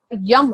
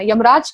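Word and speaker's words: यं: उसके अलावा इसका मंत्र होता है, उसका यम करके है, इसका उच्चारण करना, यमराज का यम, इसका उच्चारण करेंगे कैसे?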